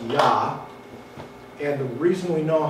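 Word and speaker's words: יה: it we actually know how to pronounce it's pronounced yah and the reason we know how to pronounce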